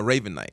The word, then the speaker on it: Ravenite: No, Ravenite.